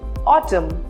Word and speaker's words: autumn: N is usually not pronounced when it comes at the end of the word and after M. For example, autumn or dam.